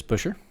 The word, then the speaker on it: Buescher: The win went to Chris Buescher. And I pronounced his name correctly for the first time in my life.